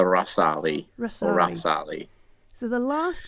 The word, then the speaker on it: Ghazali: Based on the chat today, I think it's correctly pronounced the Rasali.